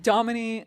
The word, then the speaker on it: Damini: no you nailed it so it Domin like Dominique without the Eek yes I really like that yes that's how I like to like tell people um but yeah that it's just Domin photography and then my